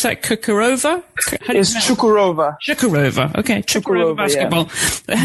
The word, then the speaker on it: Çukurova: And, you know, an up and coming league like in Turkey now that you're out there with, how do you pronounce that? Çukurova? Çukurova.